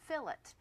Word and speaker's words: fillet: l l l l l l e be pronounced fillet if you're speaking about meat cookery the French